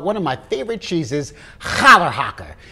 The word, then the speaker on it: Challerhocker: favorite cheeses holler haka now some people struggle with how to pronounce this cheese so let me give you a pro tip thank larry david with a hair caught in your throat holler haka this cheese is made